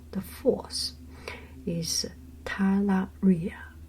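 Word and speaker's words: talaria: it okay the last thing of his secret syllable the fource is tala Ria T Ria t a l a r i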